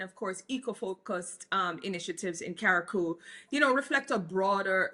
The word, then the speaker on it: Carriacou: Can you talk about this shift towards integrated infrastructure, like the new InterContinental conference spaces, or eco-resorts in Carriacou?